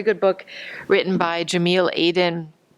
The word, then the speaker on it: Aydin: It's the Turkish spelling, and the last name is Aydin, Aydin.